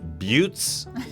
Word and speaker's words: butte: western with badlands and buttes rhymes with utes butte's basically those hills